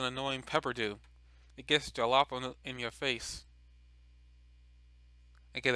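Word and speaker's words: jalapeño: yeah, I cannot pronounce, I don't know why I was saying the J. I knew that had that J was silent, or it just pronounces a H.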